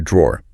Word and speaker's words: drawer: And inside it, you'll probably find a drawer. Now, listen to that dr sound. In American English, it often kind of blends into a J sound like jaw.